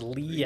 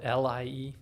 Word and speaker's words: Lie: Lee algebra no no that's okay yeah and Lee is another hard name math name because he's uh Swedish Swedish Norwegian at a time when those are the same country and Lee is spelled l-i-e if you want to look up sofas leaves